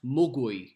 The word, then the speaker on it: mogwai: Gizmo is a mogwai. Mogwai is Cantonese for gremlin. However, in Cantonese, it should be pronounced mugui.